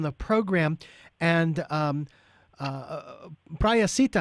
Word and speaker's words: Prahasita: program and um uh praia sita i believe is how you pronounce your name am i did i pronounce that correctly yes yes you are